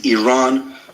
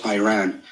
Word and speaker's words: Iran: the Iranian people but you're pronouncing our country's name wrong our country is named Iran not Iran please once and for all let's get this